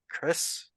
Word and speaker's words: kris: The knife you saw was I believe it's pronounced Chris.